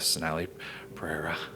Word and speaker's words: Sonali Perera: If you guys want to check out this great event we've been talking about all evening on this show with Sonali Perera.